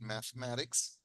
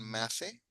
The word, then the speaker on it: mathematics: When I was 18, I went to California and studied mathematics at college. Okay, very good. Okay, note cómo pronuncia esto. Ok, ahora, mucha gente pronuncia la E, dicen mathematics, mathematics, pero de hecho el truquito es que no se pronuncia la E.